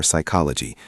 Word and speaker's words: psychology: Don't say P for psychology or K for night where the letter is silent.